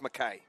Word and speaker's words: Mackay: We've just had the correct pronunciation. It's Mackay. Mackay.